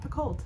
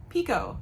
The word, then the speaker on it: Picoult: last name is not Picoult. It is Pico, like the salsa.